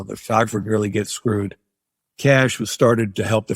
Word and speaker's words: Cache: am I'm with the cash agency it's spelled c-a-c-h-e so it looks like cachet but it's pronounced cash agency the people that